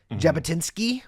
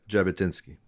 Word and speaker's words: Jabotinsky: Jabotinsky was their leader, a name I've never said out loud, so if I'm mispronouncing it, then I am. No, you got it perfectly. Vladimir Zeev Jabotinsky.